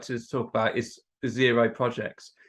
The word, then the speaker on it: Xero: to talk about is zero projects xero is a counting tool effectively it's spelled x-e-r-o and we use this as